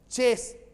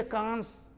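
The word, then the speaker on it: chance: चेस, ESS मिलेगा अक्सर। चांस, CHANC चांस, ई नहीं कांस, उल्टा पुल्टा नहीं, बहुत दिमाग लगाना पड़ेगा।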